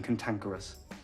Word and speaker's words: cantankerous: Mais bizarrement, ici, la première syllabe se prononce comme si elle était accentuée, avec le son A. Donc ça fait que les deux premières syllabes ont le son A, et les deux dernières ont le son E.